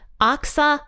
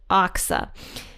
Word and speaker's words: Achsah: But I think it's pronounced Achsah. So we're going to go with Achsah.